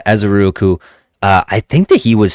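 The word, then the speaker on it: Ezeiruaku: I always thought it was Ezeruaku, but I don't know. Ezeruaku. I gotta Google it. No, that sounds pretty good. Ezeruaku.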